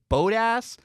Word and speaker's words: Bottas: First of all, people say I mispronounce his name, and, on TV they say Bottas, so I'm going to say Bottas, but I'm told that's wrong. People say it's Bodas, which is not a cuss word, I promise.